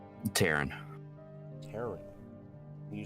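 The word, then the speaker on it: Taryn: Taran. Taran. Can you spell that for me?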